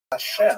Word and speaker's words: Hashem: And the word Hashem, of course, is pronounced with the letter H, but there is no letter H in the Russian alphabet.